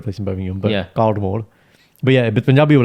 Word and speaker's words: Caldmore: and I was like, how do you say this place, which is in Warsaw, yeah? CALD Cald. MORE. Caldmore. Yeah. Karma. What? Karma. Calmer. Yeah, that's what we call it, karma.